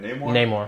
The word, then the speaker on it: Namor: And you know, Namor, am I pronouncing that right? Namor.